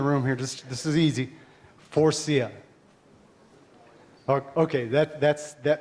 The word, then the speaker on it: Faurecia: First thing you got to do with Faurecia is you got to be able to pronounce Faurecia. So I want everybody in the room here, this is easy, Faurecia.